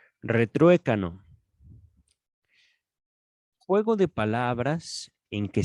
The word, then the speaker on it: retruécano: Española, diccionario, retrue, mira, retru, acento en la E, retruécano, juego de palabras en que se suele producir una repetición.